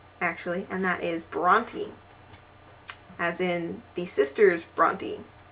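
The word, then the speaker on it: Brontë: not an um out it is a diasis and it just means that you should pronounce the E Bronte which leads me to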